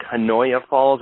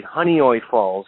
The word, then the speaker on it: Honeoye Falls: It's kind of hard to pronounce. It looks like Hanoia Falls. It's actually Honeoye Falls, New York.